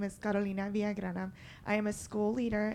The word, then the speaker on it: Villagrana: Villagrana, okay. I do not know when a G is pronounced and when it is not. It's Thank you. rolling those R's is a trick.